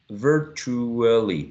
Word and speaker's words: virtually: in the next word some speakers use four syllables others use three ver virtually for try only with